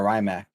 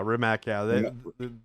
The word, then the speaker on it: Rimac: many i've never heard of rymac for mech yeah rimac they make so they actually have a couple